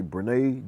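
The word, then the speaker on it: Brynnae: Brene, or I believe I pronounced it right, it's B-R-Y, Brene, I'm going to say Brene Johnson Lawrence, B-R-Y-N-N-A-E.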